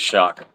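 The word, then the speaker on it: Shough: How I think it's I think it is Shock. I think it's shock. It's It's spelled Shia to me. But they call it They say Shock.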